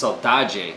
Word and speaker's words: saudade: It's actually pronounced saudade, I found out.